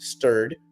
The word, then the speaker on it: STRD: 4.2 2 billion for STRD Sturred, which rhymes with TURD.